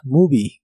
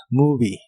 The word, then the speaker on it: movie: Y usarás el interrogativo what movie, que significa qué película. Es una frase interrogativa. La O de la palabra movie se pronuncia como U. What movie.